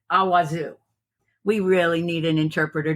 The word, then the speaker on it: Awazu: name of the battle is spelled a w Zu so I would say it awazu we really need an